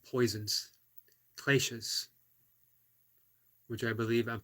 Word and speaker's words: kleshas: So I believe it's pronounced kleshas.